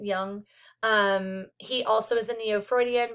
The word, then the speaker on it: Jung: Carl Jung was it's pronounced Jung.